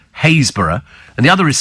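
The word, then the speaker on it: Happisburgh: in the same county one spelled hausburg but pronounced hayborough and the other is spelled stiffy but pronounced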